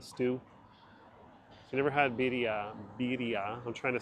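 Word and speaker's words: birria: the sauce the stew you never had beia beia I'm trying to say it properly which sounds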